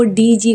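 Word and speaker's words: dodgy: नहीं वाइली पढ़ेंगे और डी ओ डी जी वाई इसे डॉज पढ़ेंगे डॉज इसे मतलब सेकंड वाला जो डी है इसमें सेकंड वाला डी साइलेंट है इसे पढ़ना है डॉज डॉज प्रोनाउंस करेंगे और करप्ट का मतलब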